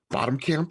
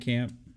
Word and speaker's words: Blomkamp: yeah, and Neil, what is his last name? Bottom Camp or whatever. I can never Neil pronounce it, but like Blomkamp. Blomkamp. There you go.